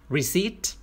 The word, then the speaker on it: receipt: return พระเอกก็บอก hey และพนักงานก็พูดว่า receipt สังเกตดีๆว่าคำนี้ออกเสียงว่า receipt ไม่มีเสียงตัว p they didn't come with